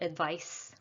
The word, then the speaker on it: advice: the z advise and the noun is with an s sound advice so the verb is